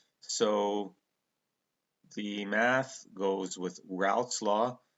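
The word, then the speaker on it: Raoult: the math goes with routs law I us to think is rul law but no it's rout is how you pronounce it um but I'll always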